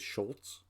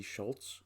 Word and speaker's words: Scholz: I believe it is Scholz. It may be Schultz. It may be Scholz. I don't know. It is spelled Scholz as far as I know, which, to my sensibilities, should be pronounced Schultz.